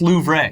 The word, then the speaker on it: Louvre: been closed for the last couple days it's pronounced Louvre the Louvre right yeah every theme park in Japan China